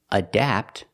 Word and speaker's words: adapt: The first word, adapt, has the short A, which is the sound ah, which is the sound ah like black cat.